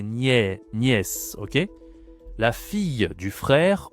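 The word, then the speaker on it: nièce: Ici la niè attention c'est pas Nice c'est niè.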